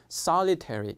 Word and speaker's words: solitary: 그다음에 리리 그렇습니다 우리 밀리터리 그러는데 미국식 정확한 발음은 milit 그래서 합치면 solitary 그렇게 되는 겁니다 자 아시겠죠 여러분 ramb solves